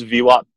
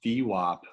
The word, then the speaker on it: VWAP: So really quickly, you pronounce VWAP with a soft A. Why do you do that? Well, I used to say VWAP, but everyone at the firm says VWAP.